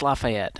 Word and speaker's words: Lafayette: Is that how you say it? I think it's Lafayette. Brandon, Brandon, correct us if we're wrong. Man, Let's let Brandon tell us. It's the Southern in me. Yeah, Brandon, how do you say it properly? How's it going? It's Lafayette. Oh, Lafayette.